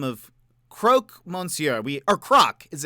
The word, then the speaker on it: croque: hanging out it's Croc well croak was correct well he was a Croc which I think is like a crocodile which is uh uh I think you are correct I I it's spelled c-r-o-q-u-e yeah yeah yeah like